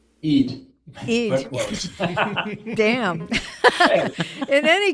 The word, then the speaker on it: Eid: And Joseph Ide, did I say that right? Eid.